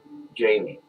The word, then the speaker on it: Jaime: Jaime, it rhymes with pain.